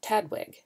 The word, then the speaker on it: TDWG: It was originally developed under the Taxonomic Databases Working Group, or TDWG, pronounced TADWG.